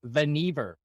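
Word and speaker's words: Vannevar: just so you know on the trivia it's vver the pronounced it vver vver vavar it's vver um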